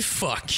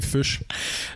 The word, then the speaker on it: Fuchs: Mais non, la vraie prononciation, c'est fuchs. OK. Comme la couleur fuchsia. Ah, OK, fuchs. Ouais. OK. C'est écrit pareil comme la couleur fuchsia. Puis vu que c'est allemand, en fait, les Allemands, ils prononcent Fuchs. Puis ça, c'est comme en